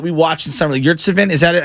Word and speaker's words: Yurtseven: So the guy for the Miami Heat that we watched in summer league, Yurtseven, is that how you pronounce it? Yurtseven, yeah.